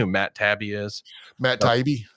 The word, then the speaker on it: Taibbi: Matt Taibbi. I think it's Taibbi. That's how I hear it pronounced.